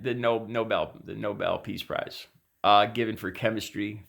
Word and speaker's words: Nobel: yeah and so anyway Trump obviously misspelled and mispronounced noble noble and nor the Nobel Peace Prize and OBE L know